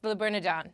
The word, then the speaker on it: Le Bernardin: Yes, Le Bernardin.